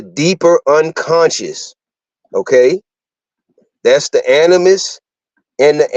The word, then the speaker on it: animus: have anima a n i m a SL animus okay a n i m u s all